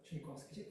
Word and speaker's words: Tchaikovsky: And the orchestra, Tchaikovsky, what's how do you pronounce it? Tchaikovsky.